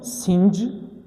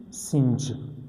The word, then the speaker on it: singe: One is singe, singe.